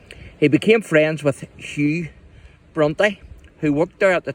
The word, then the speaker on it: Brontë: Patrick asked him to change it to BRONTÖ, later adding a diacritic mark so that it would not be pronounced brunt.